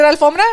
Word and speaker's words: alfombra: Alfombra. Is it alfombra? Yeah. Okay, yeah. It's not carpeta, guys. Oh yeah, that's the no sabo word. It's alfombra. But anyways, I hope you guys enjoyed today's episode.